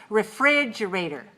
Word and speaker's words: refrigerator: what's one syllable okay refrigerator refrigerator you met this word in lesson one and lesson two so by now lesson three you must know refrigerator five syllables stressa second one right refrigerator okay how about